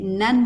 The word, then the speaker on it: Namu: Cuando este término anteceda una palabra comenzada con M como Myoho, generalmente la U final no se pronuncia. En la acción de recitar rítmicamente la frase Nan Myoho Renge Kyo, nos